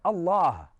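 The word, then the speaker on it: الله: context of this conversation, literally the name of our God, Allah, is phonetically such a way constructed that the alif comes from the throat, the lam is now elongated from the fullness of your mouth, and the ha is aspirated as a breath comes from you.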